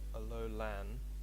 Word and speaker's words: Alolan: Is it actually pronounced Alolan? Alolan? I'm not sure. Alright. Let's see here. Okay, so it's Alolan.